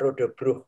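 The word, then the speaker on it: Roodebrug: Bacanya gimana ya Mas Adi ya? Rodebrook, betul? Kalau bacanya Rodebruh, Mbak. Rodebrook. Ya, artinya jembatan merah.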